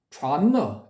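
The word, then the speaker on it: 禪那: 근데 그게 더 발음상으로는 타당할 수 있는 게 우리가 선나라고 부르는 그 단어를 중국인들은 촤너 이렇게 발음을 하거든요.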